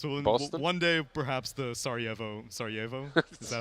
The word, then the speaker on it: Sarajevo: One day, perhaps the Sarajevo. Is that how you pronounce it?